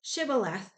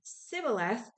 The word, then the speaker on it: Shibboleth: If he replied no, they said, "All right, say Shibboleth." And if they said Sibboleth, because he could not pronounce the word correctly, they seized him and killed him at the fords of the Jordan.